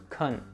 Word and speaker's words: can: So the weak form of can is usually pronounced with a schwa sound.